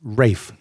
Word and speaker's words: Ralph: hey listen just just a little caveat um Ralph Fiennes if you say Ralph Fiennes you're wrong his name is Welsh is pronounced Rafe wanted to get that good for for you